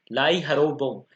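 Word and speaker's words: Lai Haraoba: थोड़ा इंग्लिश का प्रोनाउंसिएशन अलग होता है और हिंदी का अलग होता है, क्योंकि जो अपन में इंग्लिश में वर्ड लिखा है वो मणिपुर की लैंग्वेज में होता है, और जो हिंदी का अपन लिखते हैं सो हिंदी भाषा में लिखते हैं, इसलिए थोड़ा प्रोनाउंसिएशन अच्छे से कीजिए आप, कंफ्यूज नहीं होना। लाई हरोबा।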